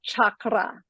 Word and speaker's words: chakra: let's start off with how do we pronounce is it chakra or is it chakra I personally prefer chakra and rolling the r but I don't do that very often because it's difficult for my American tongue but I like to